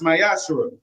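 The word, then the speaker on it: מעשר: You can find it in numbers 18 and 21 in Malachi 3 8-10 means temp in Hebrew and is pronounced myashu.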